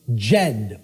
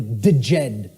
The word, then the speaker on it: Djed: See, this is an initiate inside what was known as the Jed or the Djed pillars, depending on how certain people pronounce it.